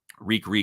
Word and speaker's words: Reek: Reek. It rhymes with meek.